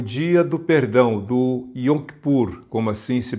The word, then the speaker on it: Yom Kippur: nível Nacional havia o dia do Perdão do yom kippur Como assim se pronuncia em hebraico dia do Perdão nesse dia